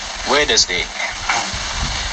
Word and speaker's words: Wednesday: is number eight wednesday this one looks like it shall take far longer to say than it does the middle three the middle their letters look like they shall be a separate syllable but the truth is they sort of get swallowed swallowed swallowers they are they